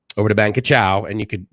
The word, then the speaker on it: Krachao: that ferry over to Krachao, and just so you know, it's pronounced as well as written KR Chow and K a chow. So it's Krachao, right? But it's Thai, obviously.